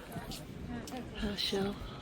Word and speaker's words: Herschel: Herschel. That's the way you pronounce it.